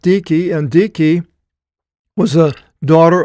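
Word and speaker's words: Dike: but uh now it talks about dicki now dice it looks in in the English but it's actually dicki and pronounced dicki and dicki was a daughter of Zeus and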